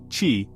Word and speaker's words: Qi: That's where the Qi standard comes in. Developed by the Wireless Power Consortium, Qi, pronounced Qi, is the most widely adopted universal standard for wireless charging.